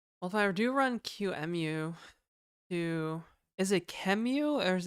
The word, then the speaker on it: QEMU: QEMU is the correct pronunciation.